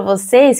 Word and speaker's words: você: Quand il y a un accent circonflexe en portugais, on va fermer la voyelle. C'est comme si on fermait. On dit ici, você. C'est notre E. Você. En français, je dirais que c'est le même son d'accent aigu dans le mot café. Mais en portugais, c'est l'accent circonflexe, c'est un peu plus fermé. Você.